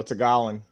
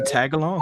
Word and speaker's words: Tagalog: It looked like tag along. Okay, all right. Well, look. In let's not get CC's defense, it does have a G on it, so it's like Tagalog, but Tagalog. At least I know the word. Silent G in it.